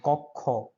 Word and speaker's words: কক্ষ: এটার উচ্চারণ হচ্ছে খ, খ, যেমন কক্ষ।